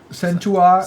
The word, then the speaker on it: Centaur: How do you pronounce that? Centaur.